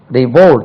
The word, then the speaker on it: revolt: revolt, கலகம் செய், வேற புரட்சி செய், revolt, revolt, revolt, R-E-V-O-L-T, revolt, second syllable, revolt, revolted, R-E-V-O-L-T-E-D, revolted, revolted, R-E-V-O-L-T-E-D, revolted, revolting, R-E-V-O-L-T-I-N-G, revolting, revolt, revolted, revolted, revolting.